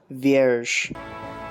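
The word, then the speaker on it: Vierge: here called virg again it's french and i don't know how to pronounce it but it means virgin it's pronounced virge it's for officers use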